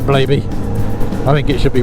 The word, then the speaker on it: Blaby: Blaby, Blabby. Is it Blaby? Is it Blabby? Blabby's a much better name, even if they want to pronounce it Blaby.